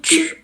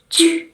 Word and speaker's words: tu: Tapi kalau yang kedua itu bacanya cu. Bibirnya harus moyong, cu.